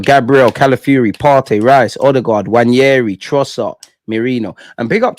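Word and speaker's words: Nwaneri: be honest, I'd always shy away from saying Wanyeri. I'd always say Ethan. Like, pronunciations is not my strong point. But one of you spell it in a way I'm like, wow, Wanyeri.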